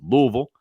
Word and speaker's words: Louisville: I'm partial to Louisville that's the proper way to say Louisville it's Louisville Kentucky um I'm a big